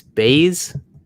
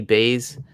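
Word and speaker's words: Buys: it is uh i believe it's baze it's pronounced b-u-y-s j.p baze uh and his wife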